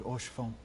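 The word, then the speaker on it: Haurchefant: And thank you for your kind words, Lord Orchefon.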